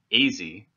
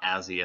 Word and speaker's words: Azze: Jason Azze, not Azzy as previously mispronounced on this show, or Spartak, who would